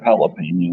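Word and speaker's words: jalapeño: Look up jalapeno. Where's the little squiggle on the top of it? Is that on the N or the E? N. You pronounce the N more. Jalapeno. It's sounding it.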